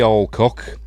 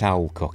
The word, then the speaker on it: Alcock: But anyway, she's played by Millie Alcock or Alco. I think it's Alcock in it because I think I've heard her say it like that. So, it's Alcock, although uh but anyway, whatever.